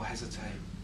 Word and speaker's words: hesitate: Oh, hesitate. Hesitate rhymes with wait, doesn't it? Those that hesitate, wait.